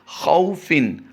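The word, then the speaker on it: خَوْفٍ: दूसरा लफ्ज़ जो आप अपनी स्क्रीन पर देख रहे हैं, खौफिन, खौ को नहीं खींचेंगे क्योंकि यहाँ पर भी वाउलीन का कायदा होता है।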